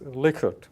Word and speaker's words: Likert: Likert and if you google it actually the pronunciation says Likert okay this is a Likert